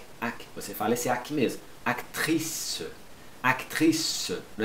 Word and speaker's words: actrice: Aqui você não vai pronunciar o E no final. Acteur. Acteur. Acteur. Você fala esse aqui mesmo. Actrice.